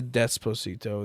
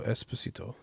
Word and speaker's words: Esposito: like wait wait wait say his name again Gian Carlo Esposito oh okay I I threw a D in there for some reason yeah